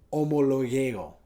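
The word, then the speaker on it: ὁμολογέω: La palabra en el griego se pronuncia algo como homologeo.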